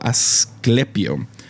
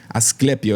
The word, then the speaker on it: Asclepio: Google me ayudó a pronunciar esto. Asclepio. Asclepio es Asclepio.